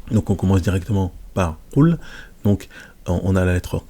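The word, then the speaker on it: قُلْ: mets la petite dhamma pour faire le son ou. Qul. Et je mets ma petite soukoun pour dire qu'il y a une absence en fait de wa'il. Donc ça va être, on va le prononcer Qul.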